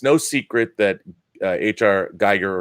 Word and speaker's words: Giger: Geiger or Giger, however his name is pronounced. I've always said Geiger, but maybe it's Giger.